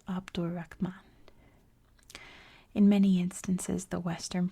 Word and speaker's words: Abd al-Rahman: In spoken Arabic, names are leaded, so that in this instance the name would be pronounced as if it were spelled Abdur Rahman.